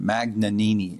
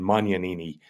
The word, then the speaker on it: Magnanini: Magnanini, is that the proper pronunciation? Right, or if you're Italian, Magnanini.